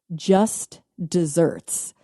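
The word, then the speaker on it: just deserts: Just desserts. It is d e s e r ts spelled like deserts but pronounced desserts like a deserter because it's the state of deserving something.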